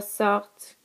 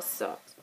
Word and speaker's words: sortent: Nous sortons, vous sortez, ils sortent, elles sortent. The only difference here is that you do pronounce the T, the first T, on this final conjugation.